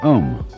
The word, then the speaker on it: om: of course the sound om that sound is used because if you spell it out a u m it runs from the back of your throat to your lips and therefore it contains